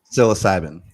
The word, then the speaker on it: psilocybin: i can't pronounce the word you can you pronounce it psilocybin thank you so who would have thought